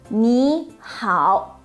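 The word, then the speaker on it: 你好: of the changing tone when two third tone characters are red in sequence the first syllable turns into the second tone the first example you'll see is very likely to be this one ni hao when said separately they are but when read together is the reason behind it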